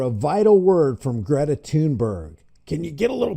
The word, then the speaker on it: Thunberg: Hi, my name is Greta Thunberg. I am a climate and environment activist. Wait a second. Have we been saying her name wrong? What did she say? Hi, my name is Greta Thunberg.